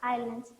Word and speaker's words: islands: Here S is silent.